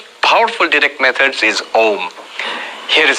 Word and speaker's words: Om: more no it's wrong the rules of sanskrit grammar say when you put a and u together it becomes o o so when the